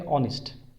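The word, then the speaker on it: honest: ऑनेस्ट, इसका उच्चारण होता है ऑनेस्ट, ऑनेस्ट, ओ से स्टार्ट होता है इसका उच्चारण, तो इसलिए इससे पहले एन का प्रयोग किया जाएगा, ए का प्रयोग यहाँ पर नहीं करेंगे।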